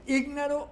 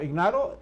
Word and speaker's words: ignaro: ¿Ígnaro o ignaro? No, ignaro, yo creo que se dice ignaro.